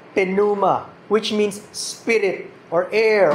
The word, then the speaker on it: pneuma: sa Greek kasi hindi sinilent ang so we pronounce Puma which means Spirit or air or wind dito